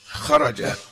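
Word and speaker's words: خرج: Kalimah itu kalau 3 huruf, itu membacanya huruf pertama langsung ditekan, biar enggak keliru. Qira'ah ini 3 huruf, kharaja 3 huruf, bacanya langsung qira'ah, kharaja, dakhala.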